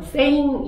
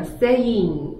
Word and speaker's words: saying: 우리는 뭔가 그냥 saying 이라고 하면 될 것 같잖아요. 근데 그게 아니라 saying 이렇게 거의 한 syllable을 거의 넣어줘야 돼요. 한 음절 정도를.